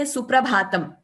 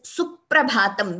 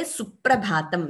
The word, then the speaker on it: Suprabhatam: So it is wrong to say Suprabhatam. It is Suprabhatam with that stress, with the double sound for P. So though we don't write an extra P here, while pronouncing, we say Suprabhatam.